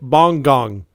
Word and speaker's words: Bang Gang: You know what's really awesome is the way the French pronounce Bang Gang. They say it bong gong.